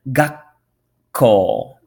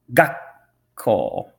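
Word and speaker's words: 学校: for school got coal notice the small in there so you're gonna want to hold that syllable a little bit got coal got coal now we have some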